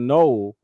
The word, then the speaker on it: Noel: But anyway, Jaylen Null from from Iowa State.